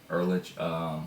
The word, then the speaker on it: Ehrlich: Jay Hoggard on here, Marty Elric, that's how you pronounce it, Ehrlich, Fred Hopkins, Furlan Aklaf, Jerome Harris, Bakita Carroll, and that's it for players.